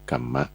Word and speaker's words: กรรม: ธรรมะ ที่ เรียก ว่า กรรม ก ไก่ ไม่ หัน อากาศ หม ม้า ม ม้า สล อ่าน ว่า กรรมมะ เป็น ภาษา บาลี เขียน เป็น ภาษา ไทย